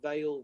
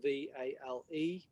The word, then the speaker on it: Vale: sense that you have vale v-a-l-e but vale as in v-e-i-l it's the same pronunciation but there's a lot